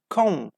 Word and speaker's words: comb: And b, as you say, if you see the word finish with m and b combination at the end of the word, we don't pronounce b. Okay. Climb, that's it. Thumb, that's it. Comb.